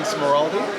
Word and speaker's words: Smeraldi: I'm with the new publisher editor, Don Smeraldi.